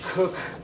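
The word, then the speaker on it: Cooke: pronounced coke and then sam cook is pronounced cook what are you gonna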